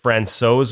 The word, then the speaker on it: Francouz: But when I asked Pavel how you say his last name, and I asked if Francouz was correct, he was very impressed with my pronunciation and said it was the closest anyone got it.